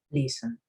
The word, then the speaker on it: listen: No dice listen, sino listen. ¿Sí? Es diferente. Apenas se escucha la E.